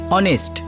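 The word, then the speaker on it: honest: অনেস্ট এইচ দিয়ে শুরু হয় কিন্তু ফোনেটিক্স এর উচ্চারণ মানে প্রনান্সিয়েশন ও দিয়ে হয় অনেস্ট এইজন্য তার আগে এন বসাতে হয় হ্যা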